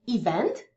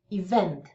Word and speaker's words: event: Po polsku mówimy event. Więc akceptujemy pierwszą sylabę. Natomiast po angielsku koniecznie musimy powiedzieć event, czyli zaakcentować drugą.